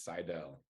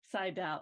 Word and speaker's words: Seidel: you say it wrong yeah my last name's Seidel Seidel okay that's what I thought but I was